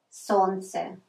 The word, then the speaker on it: солнце: The same with the word солнце. Солнце. We don't pronounce L. We just say солнце, but we have to spell солнце.